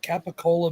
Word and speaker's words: capicola: it and she's like that capicola meat she's like yeah it may be spelled with a c but it's pronounced with g's i love seeing i